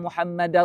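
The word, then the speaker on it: محمدًا: Asyhadu alla ilahaillallah ashadu anna muhammadar rasulullah. Muhammadar da baris atas. Rasulu jangan tertukar tu.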